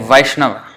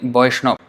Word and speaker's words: Vaishnava: a lag okay so the B is also used as V so like Vaishnava they say boy snob but it's not wrong